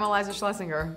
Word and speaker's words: Iliza Shlesinger: Pronounced Lacroix. Hi, I'm Iliza Shlesinger, and I play Sissy in Spencer Confidential, out March 6th on Netflix.